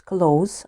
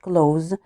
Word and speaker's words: close: adjective so here close we should pronounce close not close and it means close S not Z yes so close fluently